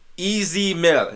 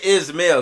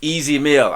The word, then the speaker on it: Ez Mil: that is this brother easy mill i said his name right all right i didn't say ismail because i have a running joke with my with my my comment section i say his name wrong all the time it's easy meal i know all right